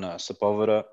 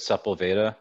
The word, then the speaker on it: Sepulveda: him from over on sepulveda as my wife said supple veda she didn't know how to pronounce it so we um